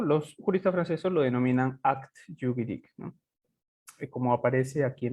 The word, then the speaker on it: acte juridique: Pero en realidad cuando en francés, si la E, perdón, no está tildada, ustedes saben, de repente algunos lo saben, no suena, no se pronuncia, no suena. Entonces la pronunciación correcta sería acte juridique, ¿no?